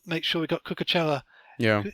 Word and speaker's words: Cucurella: I really do want to make sure we got Cucurella Yeah. Is that how you pronounce his name? Cucurella, I think. Cucurella. That sounds much better.